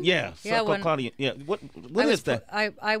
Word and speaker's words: succinylcholine: Succinylcholine? Yeah, succinylcholine.